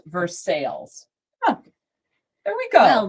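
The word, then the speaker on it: Versailles: That's why I was like because it wasn't pronounced like the town in the other country.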